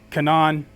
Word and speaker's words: Canaan: land of Canaan, or Canaan. A lot of people pronounce it either Canaan or Canaan. It's all good.